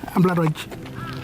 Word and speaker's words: Ampilatwatja: Ampilatwatja. You don't spell it like that.